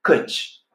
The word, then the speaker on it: căci: Il y a même encore une autre expression pour traduire parce que, c'est căci. Căci, ça s'écrit C-E-C-I.